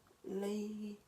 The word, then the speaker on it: Leigh: She said signing a publisher deal with Lay, it's spelled Leigh, and then she also said winning a Brit Award and this tour.